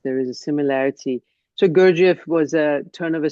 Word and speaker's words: Gurdjieff: Uh is it pronounced Gurdjieff? Gurdjieff. Gurdjieff.